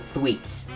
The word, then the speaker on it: Thweet: Oh yeah, and those yellow guys, those guys are called Thweets. Not Fweet, like the Mario, shit, what's it called?